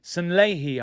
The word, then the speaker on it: Sanllehi: here with the glasses Rao Cinelli San Leahy I think you actually pronounced it but lazy English I just call him Ralph cenelli um he's given